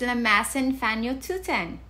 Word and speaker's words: lamasan fañochuyan: Dining table is lamasan fanyututan.